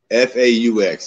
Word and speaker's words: faux: H-U-G-A, and it's faux. F-A-U-X is faux. What is this word you're saying? Faux? F-O-E? It's F-A-U-X, Fox.